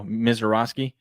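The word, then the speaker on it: Misiorowski: Miseroski.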